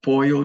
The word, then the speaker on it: pollo: El pollo, double L is pronounced like a Y, is chicken.